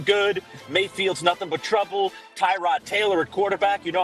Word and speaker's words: Tyrod: As Baker Mayfield pointed out this week, it's Tyrod Taylor, not Tyrod Taylor, pal.